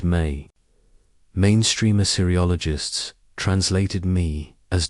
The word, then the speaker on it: me: Ray's conflict was with the word me, pronounced may.